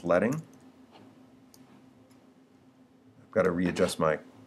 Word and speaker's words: leading: Likewise, we can adjust not only the space between letters, but we can also adjust something called leading, often mispronounced as leading, but it's leading.